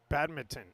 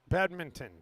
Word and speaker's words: badminton: N is a pain we're the only country that doesn't pronounce the second n and and my partner